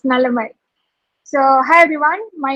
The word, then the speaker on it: Nalammai: I may have pronounced your name wrongly. Please correct it. No. Yeah, it's correct. It's Nalamai.